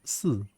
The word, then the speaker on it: 四: In Chinese, four is pronounced as 四. It's very it pronounced like very similarly to like death, 死, right?